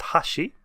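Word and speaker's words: 箸: So chopsticks in Japanese is pronounced hashi.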